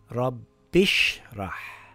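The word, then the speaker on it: رَبِّ ٱشْرَحْ: And if I read the words together, we drop the Hamzatul Wasl and it reads rabbishrah.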